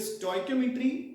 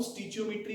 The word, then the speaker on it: stoichiometry: सो इट इज स्टोइकोमेट्री एंड it should be स्टोइकोमेट्री, fine, you getting a point. No स्टिचियोमेट्री, स्टोइचियोमेट्री, है ना, pronunciation should be very correct, ठीक है, मतलब science